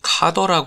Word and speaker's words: cdr: cdr 저는 cd-r 로 계속 읽을 껀데 원래 발음이 카더라 고 하더라구요 카 덕후 더 뭐 이렇게 입는다고